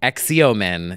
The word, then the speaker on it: Xeomin: Well, if everyone would stop pronouncing X's that way, then we wouldn't have this problem. It's so true. Xeomin is what it should be.